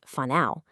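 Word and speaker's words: whānau: You'll hear vanu when talking about family. And here's a key tip. In Māori, the WH is pronounced like an F, so it's whanau.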